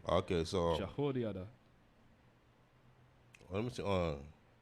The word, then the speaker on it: Jehoiada: These things did Benaiah, the son of Jehoiada, and had the name among the 3 mighties.